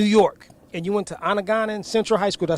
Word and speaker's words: Onondaga: Now, you're originally from New York, and you went to Onondaga Central High School. Did I say it right? Onondaga Central. Onondaga Central, and you was one of the top-rated running backs coming out of New York.